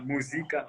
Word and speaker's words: Muzika: album you know yeah you call it musica which is not a musical or music music car yeah you said it right there musica yeah yeah you know